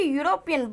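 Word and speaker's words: European: ठीक है, यूरोपियन, भले ही अभी आपको ऐसा लगता हो कि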